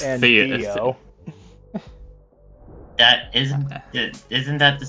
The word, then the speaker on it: Theo: It just sounded like Dio when you said Theo right there. What the hell? I think Don't they have the same pronunciation? Am I just going insane? It's Theo.